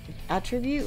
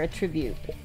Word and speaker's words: attribute: Attribute is the noun, and attribute is the verb.